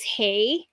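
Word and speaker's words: hej: in in Scandinavia they their word for hello is hey and it's h EJ is how they spell it so they they when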